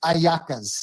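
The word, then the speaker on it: hallacas: Yeah, it's pronounced Ayakas and Makabelli.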